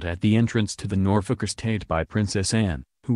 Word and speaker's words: Norfolk: happy to be in Norfolk pronouncing the second syllable as in folk music the Princess Royal shot her a withering look and told her it's Norfolk as in nor f-ck secretly Anne was pleased